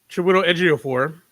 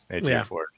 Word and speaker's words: Ejiofor: So, Chiwetel Ejiofor. Wait up. I said your words. Quickly, I said your words. I think you got his last name right at least. Ejiofor. Ejiofor.